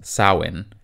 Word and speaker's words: Samhain: is broken the last thing I'll say about Samhain is that the word he was named after is pronounced sauwin I know it's spelled like this but I